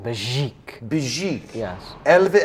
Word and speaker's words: Begic: more time well him pronounce it like it was French so you go like Bezique Bezique yeah a little